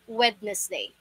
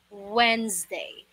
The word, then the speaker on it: Wednesday: But the correct pronunciation of this word is, listen carefully, it only has two syllables. Two syllables lang to po, hindi po Wednesday. It's wrong. And you don't pronounce the sound of S here as S. You should create a Z sound. Z, just like the B.